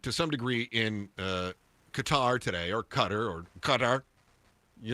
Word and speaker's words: Qatar: You know, the actual pronunciation is something you and I couldn't do. Our American tongues can't say that. I just thought it wasQatar. It's cutter. Oh, okay. If you're saying it correctly, it's like it's very gutral.